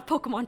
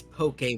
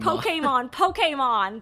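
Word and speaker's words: Pokémon: Wait, so say it again. Say it right. Yo, Pokemon trainer would be a cool job to have. But No, say it right. It's Pokemon. Pokemon. There we go.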